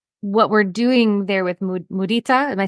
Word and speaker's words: mudita: I love that because when I hear that, I think that what we're doing there with mudita, am I saying it right? Hmm. Yes. So with mudita, it's not just joy in other people's joy,